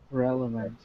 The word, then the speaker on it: relevant: Some people say relevant, and some people say relevant. It's not relevant. But we don't say like relevant. How do we say it correctly? Relevant. Relevant. Relevant.